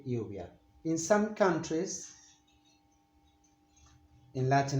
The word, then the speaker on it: lluvia: In Spain, in Spain and in most Latin American countries, they say it lluvia with this soft v, lluvia.